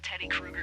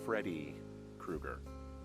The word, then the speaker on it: Freddy Krueger: loose this is not a Teddy Krueger situation Krueger it's Freddy Krueger wait really yeah for